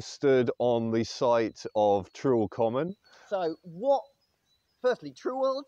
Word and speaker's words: Trewell Common: was it neil well from the old english and the slovenly nature of the east anglian dialect i would assume that we would be pronouncing it as true or common so what was common